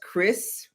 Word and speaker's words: XRS: But, um I I just bought a a it's supposed to be pronounced Chris wig, but it says XRS.